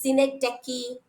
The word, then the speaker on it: synecdoche: Then synecdoche, that is the pronunciations which many of you, many students are actually uttering in a say mistake, by mistake they pronounce it in different manner. It is synecdoche, hyperbole, then metonymy is there, many are there, we know.